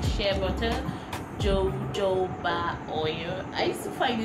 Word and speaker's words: jojoba: hair like shea butter jojoba oil i used to find it difficult to pronounce this i used to say baba instead of jojoba or coconut oil those